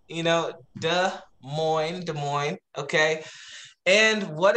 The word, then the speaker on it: Des Moines: These people gave our city some type of French name, Des Moines. But yeah, so it's like, it's Des Moines, you know, Des Moines, okay?